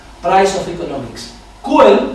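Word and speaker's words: Čuhel: Y han creado un premio, que es el premio František Kuhel, Prize of Economics. Kuhel, que se escribe C-U-H-E-L y encima de la C un triángulo invertido, lo veréis citado en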